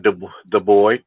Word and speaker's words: Dubois: I mean, we looking at you, what's that, Dubois? That's a French language. It's Dubois in French, but Dubois, that's how you say it in English.